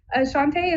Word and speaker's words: Shante: and I am a Shante I believe is how you say that Shante is that are you there is am I saying your name right yes you are okay I'm surprised I'm